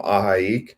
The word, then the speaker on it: ahi: Yeah, so San Diego was watching my Island Hopper video from AHI. That's how you pronounce it, AHI.